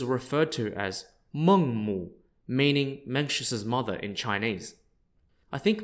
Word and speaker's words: Mencius: name was m-a-n-g-k-e and menxious is just an English way of pronouncing his honorific title spelled m-e-n-g-z-i which literally means Master